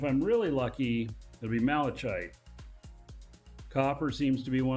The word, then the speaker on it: malachite: to tell me that malachite and c-h-i-t-e spelled kite pronounced kite makes sense to me kite kite how about I just